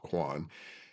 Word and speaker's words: Kwane: Altered the spelling and the pronunciation so I was called Quan.